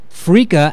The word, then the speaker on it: freekeh: Is Bonnie Matthews on the line with Freaka Foods?